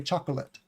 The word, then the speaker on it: chocolate: we don't often say chocolate chocolate chocolate the O is usually silent chocolate chocolate two syllables chocolate um chocolot Chocolat